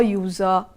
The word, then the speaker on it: user: a university a union you must be wondering why u is highlighted there because here it sounds like u y o u and you know that why it is a consonant sound and that is why